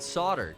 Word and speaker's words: solder: How would you have spelled solder?